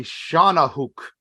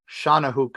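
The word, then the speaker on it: Shawnahooc: get in serious trouble so it is the Shauna hook uh so if those who want to know how to spell that it's s-h-a-w-n-a-h-o-o-c Shana Hook is how it was pronounced to me which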